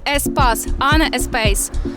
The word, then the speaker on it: Espace: Правильно читається SP Espace.